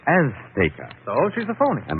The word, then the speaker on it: Azteca: Azteca. She gave the Z a TH sound. That's Castilian Spanish. Mexican or any Spanish American would say Azteca.